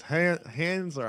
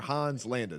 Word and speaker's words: Hans Landa: that's what it was hands are Hans landed depending on how you want to pronounce it depending on which part of Germany you're from that's what it was